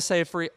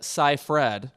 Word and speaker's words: Seyfried: performance moving right along amanda seyfried i'm sorry amanda saifred rhymes with rye bread in mank and yajong